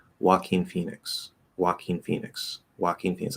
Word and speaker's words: Joaquin: about the fact that joaquin phoenix is pronounced like joaquin yeah so you gotta walk in phoenix exactly phoenix's are supposed to fly but this one walks joaquin phoenix um a